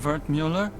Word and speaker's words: Wertmüller: Cut-up version of Wertmüller. It's German, from my father. He said to always insist on the umlauts. Otherwise people butcher the pronunciation.